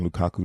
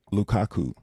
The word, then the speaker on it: Lukaku: score a goal, and Lukaku. You can look it up. It's spelled just like how it sounds, of Belgium to score a goal.